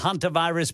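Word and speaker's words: hantavirus: t a v iirs it's called hun virus because in in New Mexico the a is pronounced a hun virus hun virus okay uh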